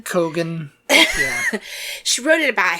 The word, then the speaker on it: Keoghan: Because she wrote it about her ex-boyfriend, Barry Keoghan. Keoghan? Is that how we pronounce it? Keegan. Cogan.